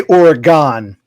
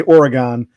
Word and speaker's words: Oregon: We say Oregon because G-O-N, like pentagon, octagon, hexagon. G-O-N is usually pronounced gon. So we say Oregon. You people keep insisting it's Oregon.